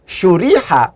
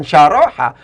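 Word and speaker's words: شُرِحَ: Ketika kemudian cara baca shin roha ini dibaca syuriha, bukan syaroha, maka otomatis dia diikutkan pada kaidah dhamma awaluhu wa kusira ma qoblal akhir.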